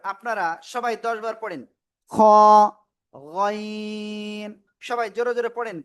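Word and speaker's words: خ: Just বাংলায় খ অক্ষরের মতো উচ্চারণ করলেই হয়ে যাবে। খ খ খ খ।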